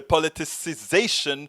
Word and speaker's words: politicization: The politicization, I always mess this word up because it has an extra syllable that I always kind of forget to put in. The politicization of COVID-19 is hurting us all.